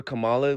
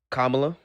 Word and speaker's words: Kamala: Um the last the reason why I voted for Trump over Camala was because um Camala did a lot um Kamla. That's how you pronounce it.